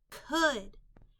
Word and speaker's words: could: them along with me could the o u l in this word is making a short u sound could in that part we